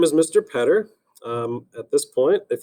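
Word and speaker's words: Poetter: my name is mr petter my name is spelled p-o-e-t-t-e-r which kind of looks a little bit funny if you just kind of imagine dropping out the o better petter okay they rhyme and they would look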